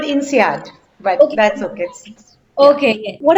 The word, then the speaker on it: INSEAD: also done her mba from inseed france i hope my pronunciation is correct over there ma'am that's fine it's called insead but that's okay okay